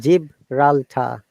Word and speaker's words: Gibraltar: Gibraltar. Gibraltar. Okay. Gibraltar. I'm breaking it for you. Eh? Gibraltar. Gibraltar. Gibraltar. You know the angel Jibrail. Yeah. Same spelling.